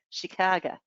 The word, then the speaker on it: Chicago: Ah, Chicago or Chicago, they say. That's what the locals say, Chicago.